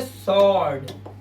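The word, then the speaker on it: sword: और डब्ल्यू देखिए कह रहा है एस के बाद अगर डब्ल्यू आया तो साइलेंट होगा। जैसे तलवार। तलवार की इंग्लिश क्या होती है? तलवार की इंग्लिश होती है स्वर्ड। आप इसे स्वर्ड बोलते हैं। नहीं ये स्वर्ड है। स्वर्ड। डब्ल्यू साइलेंट है।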